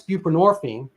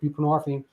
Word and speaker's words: buprenorphine: came along and that's buprenorphine and and people like what is that well I mean the hint is it rhymes with morphine which is derivative from